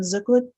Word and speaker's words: Zuklic: um hi my name is or zuklic um it's with a c the last name is spelled z k l i c I've been